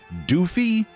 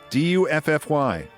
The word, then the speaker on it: Duffy: The bronze worst Sea, how's this pronounced? Doofy. Du FFY Duffy.